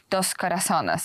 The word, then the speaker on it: Dos Corazones: I would say you're an experienced producer of big blockbuster Christian movies with your company Dos Corazones.